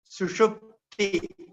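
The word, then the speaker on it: सुषुप्ति: So you can practice the pronunciation sushupti.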